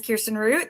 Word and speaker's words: Kirsten Root: My name is Kirsten Root. Thank you so much for pronouncing it correctly.